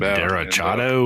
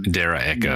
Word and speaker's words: derecho: Is it Derechado or something? Is that how you? I think it's a Derecho. Derecho. Okay. I was like, pronounce it like Hispanic.